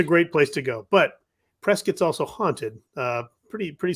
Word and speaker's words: Prescott: go is Prescott Arizona which is looks like it's spelled Prescott but it's actually pronounced Prescott which is I don't know I don't know